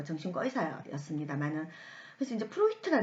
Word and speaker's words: 프로이트: 처음 제 한분이 9년 프로이트 든요 여러분들 어떤 프로이드 이렇게 이야기를 하는데 어 그 원래 2분이 제도 개 분이시기 때문에 2개씩 발음을 하지 않은 프로이트 담았죠 그래서 포인트인데 프로이트 어 2 정말 유명